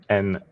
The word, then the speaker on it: Naoki: Naoki. Not gnocchi, which is potato.